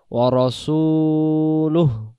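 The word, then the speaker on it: وَرَسُولُهُ: লাম হা পেশ লুহ, হায়ের উচ্চারণ ভেসে উঠবে। বাংলাতে যদি আমরা বলি কেমন করে ভেসে উঠবে, যেমন লয় রুসুকার লু, আর শেষে যদি একটা হ থাকে যেমন হয় লুহ, এমন হবে ওয়ারাসূলুহু।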